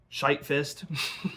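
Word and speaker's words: Shyt Fyst: track nine, called um Shite Fist. I'll say it that way, but it's spelled s h y t f y s t, so it's perfectly fine.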